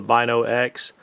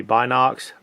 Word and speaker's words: Binox: And uh just real quick, sometimes in the video I call them the Bino X. Um I think the actual true pronunciation is going to be Box, but uh so cut